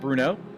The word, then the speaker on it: Brno: everybody uh yeah we're here at Bruno I believe that's how it's pronounced anyways that's how I've always heard it pronounced in the Czech Republic four Czech made sports